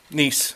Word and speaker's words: Gneiss: Nisus. Nice. Sorry. Not Gneiss. Nisus. Gneiss. Nice.